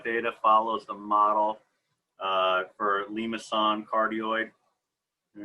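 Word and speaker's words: limaçon: It's a limason, a little cedilla under the C. It softens up the C, in case you're wondering how that's pronounced en français.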